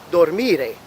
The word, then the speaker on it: dormire: As opposed to ire verbs, the infinitive form sounds like dormire. Again, this time it's falling on the second syllable again.